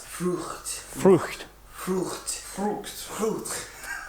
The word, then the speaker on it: Frucht: Frucht. Frucht. Frucht. Frucht. Frucht. That's a tough one. The F and the R.